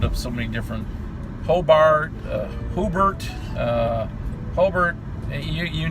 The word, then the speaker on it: Hobart: Because everybody knows in the region, it's Hobart. But how many different pronunciations have you heard? Oh, I've heard it doctored up so many different. Hobart, Hobart, Hobart.